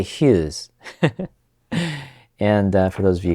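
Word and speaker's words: ヒューズ: on him interestingly enough fuse in Japanese is not pronounced with an F it's pronounced with an H now that's not why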